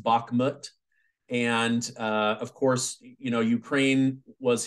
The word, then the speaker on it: Bakhmut: But something that I've noticed in my YouTube comments section is a lot of chatter around, I believe it's pronounced Bakhmut.